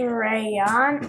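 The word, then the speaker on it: Rayaan: good and your brother's name my name is rayon r-a-y-a-a-n very excellent so foreign yeah very nice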